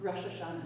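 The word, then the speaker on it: Rosh Hashanah: And I just want to share that after that beautiful talk about sorry is it pronounced Rash Hashana. Rashashana.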